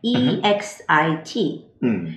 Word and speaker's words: exit: 여러분들 X 발음은 두 가지 소리가 있어요. 예를 들어서 어 실례요. Excuse me. Excuse me. Right. 어 X 하는 X 발음이 있고요. 그다음에 for example. For example, Z 발음이 있어요. 근데 요도어에서는 그 Z 발음을 해서 exit 혹은 exiting.